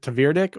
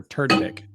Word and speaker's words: Tverdik: So is it Tverdik or Turdik? Probably not the second one. Yeah. It's not Turdik? You're pronouncing the V.